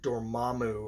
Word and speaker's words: Dormammu: the first appearance of the dread dormammu or dormammu like they say in the movies but I'm not going to say it like that so the first appearance